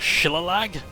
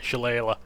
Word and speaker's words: Shillelagh: I was like, Shillelagh? Shillelagh? Shillelagh? I don't know, yeah, Shillelagh. I just pronounce it the Yorkshire way, Shillelagh.